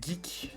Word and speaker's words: GIC: rejoindre le discord du GIC du Geek ça se prononce qui m'a aidé pour